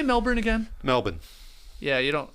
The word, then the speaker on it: Melbourne: Melbourne. Yeah, you don't. You don't put the R in there.